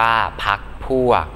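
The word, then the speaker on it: พรรคพวก: ธรรมชาติ อ่าน ว่า ธรรมชาติ พรรค พวก อ่าน ว่า พรค พวก พรรษา อ่าน ว่า พรรษา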